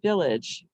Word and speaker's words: village: think to spell village the word village the sound is edge we have many words where the a g e is used to spell edge and yes it's a schwa sound it's an unaccented syllable the g is saying because it has a silent e after it to make the g stage it the e is not going to make the a say a here it's just there to make the g sage and the a is